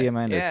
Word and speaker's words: Diamandis: Peter Diamandis.